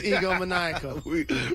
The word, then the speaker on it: egomaniacal: It's what? Egomaniacal. I met him once. I'm trying to think of the real pronunciation. Egomaniac? Egomaniacal. You can tell they just said it into our ear because we said it at the same time. It's egomaniacal. we are the dumbest radio hosts.